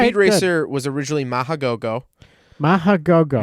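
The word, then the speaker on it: Mach GoGoGo: Racer was originally Mahagogo, Mahagogo. Machagogo, and online it said it had 3 goes, but I've heard it pronounced 2 goes.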